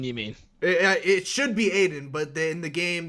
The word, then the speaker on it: Aiden: of Iden Aiden you mean it should be Aiden but they in the game they pronounce it Iden but with the exception of a couple times where they're like where they call him Aiden like it should be um and the director